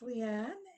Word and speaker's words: Leanne: like to call upon, I think it's Liane or Leanne, and my apologies if I'm not pronouncing your name correctly. A request to unmute you has been sent, and I believe you are unmuted. Great. So yes, it's Leanne.